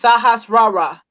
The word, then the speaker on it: Sahasrara: It's Sashahara. So it's like pronounced Sahasrara. That's the um A Sahasrara.